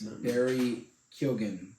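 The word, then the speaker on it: Barry Keoghan: of the movie with um the Great berries Barry kilgen yeah it's how he pronounces it yeah killed him and it was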